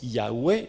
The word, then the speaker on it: Yahweh: C'est pour ça que certains le prononcent Yahweh et d'autres Yehovah.